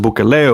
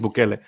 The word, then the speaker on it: Bukele: Where in El Salvador, the president, Nayib, I'm not sure if you pronounce it Bukele or Bukele. I think it's Bukele.